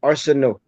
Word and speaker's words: Areceneaux: It is, just leave the N-E-A-U-X silent. Areceneaux.